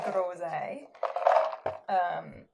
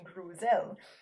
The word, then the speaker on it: groseille: So in French, gooseberry is groseille. Here in Pumlico, we don't pronounce anything properly, and so we call them grouselles.